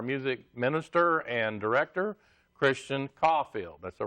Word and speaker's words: Coffield: ours and our music minister and director, Christian Coffield. That's the right way to pronounce it, Coffield.